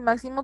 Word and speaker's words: máximo: Y máximo también es una palabra esdrújula. Tiene su acento en la antepenúltima sílaba.